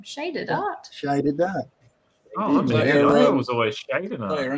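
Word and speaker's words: ShydedArt: e d a r t that's my name shaded art shaded was always shading your Instagram handle no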